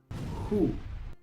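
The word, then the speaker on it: who: Muchos pronuncian esta palabra U, aunque normalmente la W se pronuncia u, pero aquí en esta palabra la W es muda.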